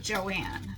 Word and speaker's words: Joan: a grocery bakery store whose name was spelt Joan, J-O-A-N, except she pronounced it Joanne.